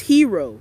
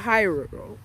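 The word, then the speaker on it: Hiro: It's Hero, not Hyro.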